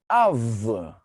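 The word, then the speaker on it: אב: The first word, let's identify first the letters. We see the letter Alef and then the letter Bet. The last letter usually remain unvocalized. The first letter has the vowel A. So how should we read that? Av.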